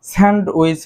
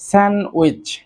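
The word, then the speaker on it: sandwich: সো এই যে এখানে ডি যে লেটারটি রয়েছে এটি কিন্তু উজ্জ্ব থাকবে, স্যান্ডউইচ হবে না, সঠিক উচ্চারণটি হবে স্যান্ডউইচ, স্যান্ডউইচ।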